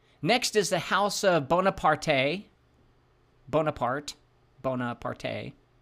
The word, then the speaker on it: Bonaparte: bloodbath ritual bori next is the house of Bonaparte bonapart Bonaparte b o n a p a